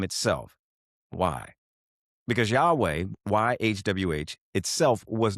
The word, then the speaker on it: Yahweh: Well, you'll often hear Yahweh, and that's widely accepted by scholars as the most likely ancient pronunciation.